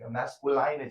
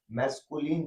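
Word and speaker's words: masculine: मान लो इसको गलती pronunciation मैस्कुलाइन gender. No मैस्कुलाइन gender नहीं होता है। मैस्कुलिन जेंडर होता है।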